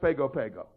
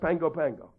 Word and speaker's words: Pago Pago: is PA GOP AGL you think it's pronounced Pago Pago it's actually pronounced Pango Pango and he's stood in